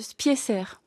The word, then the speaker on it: Spicer: Est-ce qu'on dit bien Rudy Spicer? Alors lui, il dit, vous dites comme vous voulez, mais dans sa famille, on prononce Spicer.